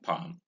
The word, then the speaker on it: palm: Like we came across silent L earlier in such ways as calm, psalm, and palm.